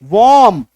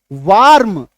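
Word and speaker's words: warm: ठीक है, तो एम ए आर के मार्क, यान वाई आर एन यान, डब्ल्यू आर एम वॉर्म, वार्म ना वॉर्म।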